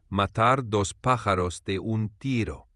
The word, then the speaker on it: matar dos pájaros de un tiro: For pronunciation, it's matar dos pájaros de un tiro.